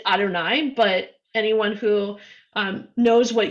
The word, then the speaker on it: Adonai: say of god we when we see that word written in a prayer book or in the torah or anything we pronounce it adonai but anyone who knows